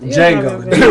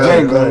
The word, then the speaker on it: Django: Django. Right, the D is silent, right? The D is silent. Django, you know what I'm saying?